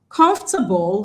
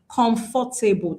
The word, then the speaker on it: comfortable: Comfortable has only 3 syllables. You have to be careful. Most times as Nigerians, we pronounce this word as comfortable. That is wrong. When you say comfortable, you've started failing it.